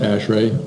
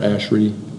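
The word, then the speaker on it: ASHRAE: you that Ash like you pronounce it ashray or ashrey people pronounce it both both ways we and we've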